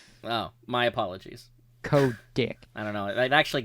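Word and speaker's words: Kotick: a for a joke you're you're you're mispronouncing the the the te in there dude it's dick oh my apologies Co dick I don't know it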